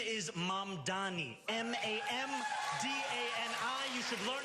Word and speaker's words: Mamdani: The name is Mamdani, M-A-M-D-A-N-I.